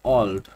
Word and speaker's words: Auld: তো আমরা একটু আগে যে উচ্চারণ দেখেছিলাম যে এটার উচ্চারণ হবে অলড।